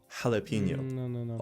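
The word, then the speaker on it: jalapeño: Rule like the word jalapeno in Mexican, which is spelled with a J, but pronounced with a soft H. Jalapeno.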